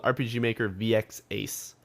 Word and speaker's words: RPG Maker VX Ace: thing that he made it in i totally mispronounced it last time but it's called rpg maker vx ace um which is actually strangely enough now available